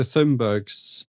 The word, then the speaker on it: Thunberg: You got Greta Thunberg's movement, haven't you? Come on, Dave, pronounce it properly.